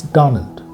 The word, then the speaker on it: Donald: So is it Donald Trump or Donald Trump? It's Donald. It's a noun. First syllable has to be stretched.